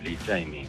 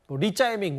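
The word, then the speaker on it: 李在明: 아세요 온라인상에서 일자이민이라고 불러요 리자이밍 이재명 이름에 대한 중국식 발음이 있는데요 한국 중국 축구 하는데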